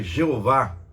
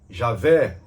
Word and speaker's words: Javé: muitos cristãos ainda que raramente se utiliza o da pronúncia Jeová para o tetragrama não podemos dizer que o nome Jeová seja forma incorreta o correta de pronúncia mais aceitável os mais letrados entretanto consideram uma forma mais acertada pronunciar e aveh Javé ou então e avô é mas acredita-se que se Deus